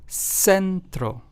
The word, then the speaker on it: centro: For example, centro, which means center in Spanish, is pronounced as centro.